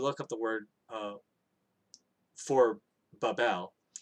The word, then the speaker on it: Babel: exactly is written, but it's the way I pronounce it. I say Babel, and the reason why I say Babel is